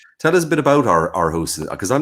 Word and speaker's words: Aarhus: And you, by the way, just I have to ask you, did I pronounce Aarhus correct in Denmark? Aarhus.